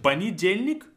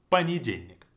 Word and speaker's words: понедельник: Понедельник, long word, but we say понедельник, понедельник. Even though you see it, it's spelled as понедельник, the first letter is О, the first vowel is О, but we say it as понедельник. Because it's not stressed, it's gonna sound like a, понедельник.